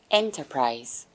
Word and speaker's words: enterprise: we have is enterprise Enterprise enterprise Enterprise is a noun Enterprise it has three syllables and where does the stress fall stress falls on the first syllable finally the last word